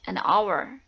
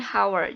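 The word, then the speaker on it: hour: untuk Hai anak orange Our ya walaupun Ours diawali dengan huruf E atau ha tetapi dibacanya our bukan hower jadi pakainya and our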